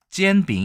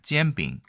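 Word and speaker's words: 煎饼: 나중 에 설명 하겠지만 , 전병 의 중국어 발음 은 " 젠빙 " 입니다 . 지안빙 맞죠 ?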